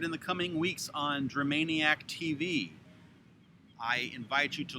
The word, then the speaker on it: Dramaniac: and maniac m-a-n-i-a-c but there's only the one m with germaniacs so it's not dream maniac it's dramaniac tv on youtube i will